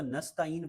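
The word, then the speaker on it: نستعين: ایاک نعبد و ایاک نستعین، تو اس کو نستعین پڑھنا یہ صحیح نہیں ہے بلکہ درست تلفظ ہے نستعین۔ اہدنا الصراط، ایدنا، ایدنا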